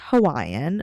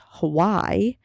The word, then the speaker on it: Hawaii: My dad is Hawaiian, so when I pronounce Hawaii, I pronounce it Hawaii, which is how he pronounces it.